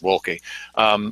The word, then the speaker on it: Wolke: Okay, so last night we had a show about GMO and about how Judge Wolke, you have to say it like that, Judge Wolke, made the decision that